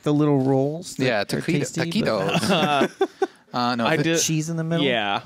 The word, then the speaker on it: taquitos: Traquitos. Yeah. Hey, guys, he says. Hey, welcome. How's it going? Welcome to you. Traquitos, like, you know, like the little rolls. Yeah, taquitos.